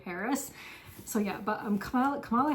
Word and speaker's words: Harris: about like Arabs and in Arabic her name would be pronounced harus rather than Harris so yeah but um